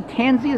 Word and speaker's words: Tansey: We are here with Timothy Tansey, am I pronouncing that right?